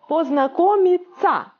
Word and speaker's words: познакомиться: If O is in a stressed position, it will be pronounced like A.